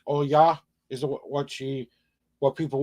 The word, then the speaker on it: Olga: and then pop in she comes hello Olga all y'all is how you pronounce your name it's the o l g a is how it's spelled how it's pronounced as